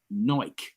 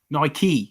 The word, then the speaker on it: Nike: uh so Damian's saying Nike was a Greek goddess for victory and it's pronounced Nike Nike Nike that's a good fact